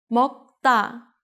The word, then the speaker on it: 먹다: So 다 becomes 따, 먹다.